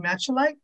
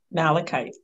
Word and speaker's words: malachite: going to say it wrong the green stone matcha light malachite malachite see there you go um and a